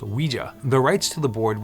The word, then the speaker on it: Ouija: interested in the occult the name Ouija is said to have come from the combination of the French and German words for yes we and Ja and it was originally pronounced Ouija the rights to the